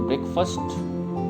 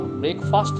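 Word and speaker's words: breakfast: तो ब्रेकफास्ट खाने से मतलब है हैव करने का। और एक और बात, ब्रेकफास्ट नहीं बोलते, इसको ब्रेकफास्ट बोलते हैं, ए साइलेंट है इसमें।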